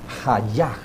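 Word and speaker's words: היה: yo soy en hebreo se pronuncia allá allá como jaya si nota que se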